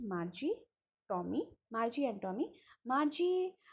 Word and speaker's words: Margie: Tommy Margie and Tommy Margie you can pronounce it as Marky also much I prefer calling her Margie now see Margie I